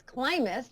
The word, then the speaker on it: Klimas: my last name is clus like climbing to success k l i m